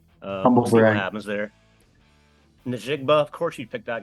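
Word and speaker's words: Njigba: Don't say the hard R, Billy. It's not Najigba. Yeah. Like, that just sounded... I said Najigba. It's not that. It's recorded. Najigba?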